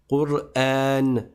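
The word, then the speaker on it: قرآن: Alors tu dis Quran parce que comme on a vu dans les cours précédents, la dernière voyelle sur laquelle on va s'arrêter dans notre phrase, on va la transformer en un scoun à l'oral. J'écris les deux dam mais je prononce le scoun parce que je m'arrête toujours sur un sousun.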